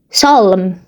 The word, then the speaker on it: Psalm: In Afrikaans, it's easier to say Psalm, but in English, I don't know how it's said. Psalm. People ignore the p, you know.